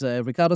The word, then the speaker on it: Riccardo: So my name is Riccardo with double C. Spanish people find it always difficult to pronounce my name, but it's with two C and not with one.